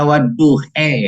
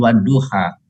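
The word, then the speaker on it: والضحى: Dibacanya waduhe ya, bukan waduha.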